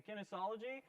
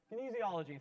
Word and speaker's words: kinesiology: central florida majoring in kinesology i hope i pronounce that right kinesiology thank you and in 10